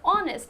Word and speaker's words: honest: So again here, H is silent. So honest.